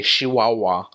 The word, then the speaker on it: Chihuahua: that one's very nasy they pronounce their CH is more like an sh they don't say Chihuahua they say Chihuahua with a sh instead of a ch um in they sing